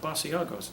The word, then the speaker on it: Basiago: Basiago. Could you spell that? That sounds kind of unusual. I said, B-A-S-I-A-G-O. He said, well, that sounds like Basiago. You pronounce it, what is it?